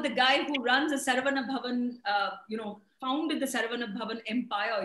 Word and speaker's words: Saravana Bhavan: They pronounce it funnily. They say Saravana Bhavan. It's Saravana Bhavan. Saravana Bhavan.